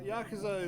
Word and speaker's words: Yakuza: Yakuza is the correct pronunciation.